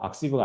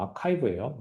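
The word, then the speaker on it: arXiv: 이거 악시브가 아니고 아카이브예요. 이거 그릭 레터 카이라서 아카이브라고 있습니다. 창피한 거예요. 네, 악시브라고 읽으면 안 돼요.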